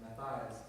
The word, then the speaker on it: Matthias: And then the 10 disciples had already called the next disciple Matthias, or Matthias, some people pronounce it. I pronounce it Matthias because that's my other nickname.